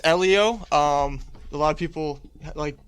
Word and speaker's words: Ellio: people who you are man um well it's Elio um a lot of people like pronounce it it's all good it's all it's totally understandable I'm so used to at this point Leo I've got cussed up by everybody about that